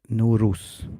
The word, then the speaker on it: Nowruz: So it Nowruz, how we pronounce that.